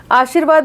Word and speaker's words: आशीर्वाद: आशीर्वाद में व पे र लगा है लेकिन उसका उच्चारण ई की मात्रा के बाद होता है।